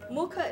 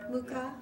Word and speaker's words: Mukha: Mukha is face. Mukha. Mukha.